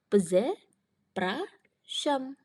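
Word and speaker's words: przepraszam: lanjut ke yang berikutnya tulisannya PR Z Pras zam oke di sini kita punya digraf RZ berarti r-nya hilang enggak dibaca dan SZ yang dibaca jadi se jadi cara bacanya peze praam peze prasam artinya maaf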